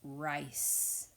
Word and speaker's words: rice: have a bowl of rice. Please finger stretch rice with me. I-S, rice. I-S. And the I is saying its name because it has a silent, bossy E at the end.